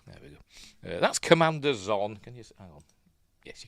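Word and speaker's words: Xon: think it what Commander I think it Commander zon XO n that's how it pronounced zon uh A peculiar name for a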